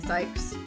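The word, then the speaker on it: Cykes: Wait, it's pronounced Sykes, not Cakes?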